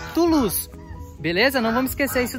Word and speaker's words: Toulouse: Eu insisto em falar Toulouse. Mas o meu amigo que nos acompanha aqui, ó, lá de Londres, nos ensinou a falar que a pronúncia certa é Toulouse.